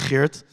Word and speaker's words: Geert: That's how you pronounce his name, by the way, not Geert, Geert.